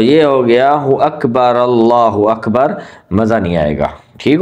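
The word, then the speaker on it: الله أكبر: اب دیکھیں، ایک تو یہ ہے اللہ، ہم اس کو پڑھتے ہیں اللہ اکبر، اکبر، اور یہ پیش جو ہوتی ہے وہ بھی گئی، یہ ہا بھی گئی، یہ دونوں ہم کھا گئے، اور یہاں جو الف ہوتی ہے اکبر وہ بھی چلی گئی اور ہم نے وہاں پہ لگا دی وا۔ تو آپ ضرور اس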